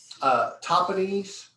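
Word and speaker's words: Tahpanhes: Okay, so Topanese is how it's pronounced.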